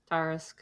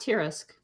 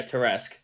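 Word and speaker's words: Tarrasque: everyone oh deep lore it was not tarisk that was pronounced tear-esque but i think wrote it it is it is pronounced that way but i yeah terresque that's neat now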